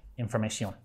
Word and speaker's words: información: cross over directly, but are pronounced a little differently with the C sound, información, información. My strong accent coming through there for you Spanish speakers. Instead of the T-I-O-N, the stronger T sound.